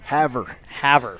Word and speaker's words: Havre: Havre. Havre, Montana.